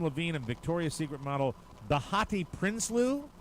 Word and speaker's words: Behati: Maroon 5 singer Adam Levine and Victoria's Secret model Bahati Prinsloo. Bahati? Did I pronounce her name? Bahati. Behati Prinsloo.